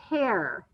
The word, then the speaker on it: tear: very good t-e-a-r ear now that word can also be pronounced as tear but in this case to make it follow a rule it is a tear like i have a tear running down my cheek when i'm sad right all right miss